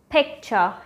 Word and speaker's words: picture: It is picture, as in pick. Picking something, picture.